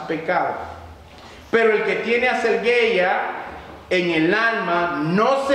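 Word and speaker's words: ἀσέλγεια: Hay unas personas, la palabra griega que se utilizó para definir lascivia es una palabra griega que se pronuncia más o menos así: aselgeia, aselgeia.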